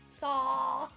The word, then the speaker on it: Saar: Saw. So it's actually like saw. Too many saws.